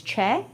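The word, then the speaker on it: 최: So my last name's Choi, right? But in Korean it's Che. Che.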